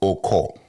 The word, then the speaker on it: Okoe: Yeah, Bortier Okoe or Oko? Oko, yeah. So the E is silent?